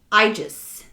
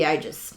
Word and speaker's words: Aegis: is i a e is pronounced long I it's uh an air